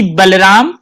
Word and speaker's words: Boloram: नाम के बारे में जानना चाहता हूँ कि बलराम दास बोलो राम दास कैसे बन गए?